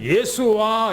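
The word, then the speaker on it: ישוע: 원래는 예수와 그래요. 예수와. 원래는 우리나라에서는 예수 그렇게 표현합니다만은 이스라엘 가보면 예수를 그냥 예수라고 말하는요. 예수와 그렇게 얘기합니다. 그 사람들은. 그래서 원래 발음이 예수와예요.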